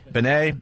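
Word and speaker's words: Benét: Benet.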